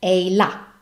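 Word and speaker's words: ehilà: very nice a la as we all words that have the stress on the last vowel remember to pronounce that accent that stress a la and there you have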